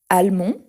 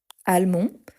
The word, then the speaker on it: allemand: L'Allemagne, on aura donc le masculin allemand, allemand, on ne prononce pas le D à la fin.